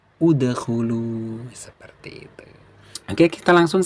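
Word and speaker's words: ادخلوا: Nah, jadi bacanya apa? Udkhulu, idkhulu atau adkhulu.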